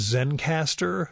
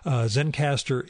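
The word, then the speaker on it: Zencastr: I'm using this is Zen caster that records the remote the remote episodes it's spelled ze and CAS TR so it's missing the final e Zen caster is there's a hobby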